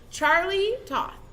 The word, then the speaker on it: Charlie Toth: Charlie Toth.